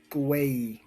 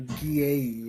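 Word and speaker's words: Gueye: Excuse me if I say this guy's name wrong. Muhamad Guay or Gay or Guay. Oh, he's a forward for the gu, right? It's gu. Yes. It's like gooey or something.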